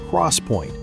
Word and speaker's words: XPoint: In July 2015, Micron and its longtime partner Intel announced 3D XPoint, pronounced Crosspoint, a non-volatile memory technology that promised to revolutionize computing architecture.